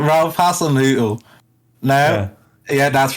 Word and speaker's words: Hasenhüttl: Ralph Hasenhüttl?